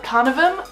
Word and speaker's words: Canavem: So the species is called Canavems. So you can pronounce the name Canavem, Canavem, or Canavem, doesn't really matter, they all pretty much are the same thing.